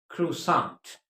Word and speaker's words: croissant: So do remember it's pronounced croissant.